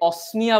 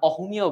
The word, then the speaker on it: অসমিয়া: এটাকে অনেকে অসমিয়া বলে থাকে, আবার অহমিয়াও বলে থাকে।